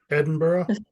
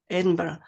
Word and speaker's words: Edinburgh: EX excellent yes perfect Edinburgh the G and the H are silent at the end of these names um sometimes you will